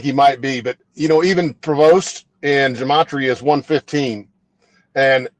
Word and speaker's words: Prevost: His name is, and correct me if I'm not pronouncing this right, is it Prevost? Yep. Prevost.